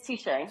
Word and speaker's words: Tisha: Yeah, and Tisha, is that how you pronounced it? It's Tisha. Tisha.